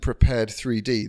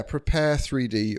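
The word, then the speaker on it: Prepar3D: 3D is um a I'm saying it wrong probably it's it's called prepare yeah prepare 3D or p3d I'm going to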